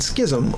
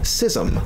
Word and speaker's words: schism: different dictionary sites and one said Schism or sism oh it's both both are correct is one British one's